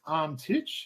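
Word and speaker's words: Antić: So, officially pronounced Antic, just for those sort of wondering. So, you just hear a few variations.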